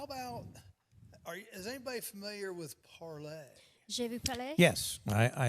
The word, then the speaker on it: Parler: It's spelled parlor. They wanted a catchy name. This is the French word for to Parlay. speak. Yeah, well, and it's Parler. called Parlay. Je vous parle. Yeah, Parler. French is Sydney's Yep.